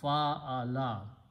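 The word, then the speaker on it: فعل: When we combine three letters in the format that we put a fatha or zabar on each of them and pronounce fa'ala.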